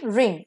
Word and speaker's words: wring: The next word pair is रिंग, रिंग, same pronunciation, एक में RING है, दूसरे में W से स्टार्ट है, विच इज साइलेंट हियर।